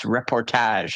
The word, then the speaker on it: reportage: I think it's reportage.